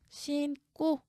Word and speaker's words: 신고: 그렇다면 된소리로 발음하래요. 신고 이렇게 발음하죠.